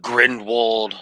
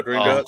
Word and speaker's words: Gringotts: I got on the Grindelwald. Is it Grindelwald's? I can't pronounce it right. I think I'm saying it right. But Grindelwald's bank ride for Harry Potter. Oh, Gringotts, yeah.